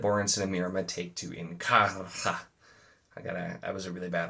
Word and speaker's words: Inkarra: and Mirama take to Inkarra. I was a really bad R roll. Inkarra. That's always how that's always how it's said on the audio with the rolled R's, but I don't roll